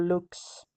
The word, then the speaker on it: LVX: slame position cross and say lvx or looks that is light keep your arms extended